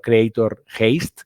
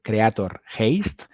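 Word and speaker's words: Creator Heist: Si buscáis en vuestro reproductor Creator Haste, que se escribe Heist, Creator Haste, vais a encontrar el podcast.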